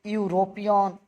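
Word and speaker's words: European: तो जैसे मान लीजिए कि यूरोपियन, तो जहां यू और ई का उच्चारण यू आ जाए, तो यू आ जाए तो वहां ए लगाइएगा।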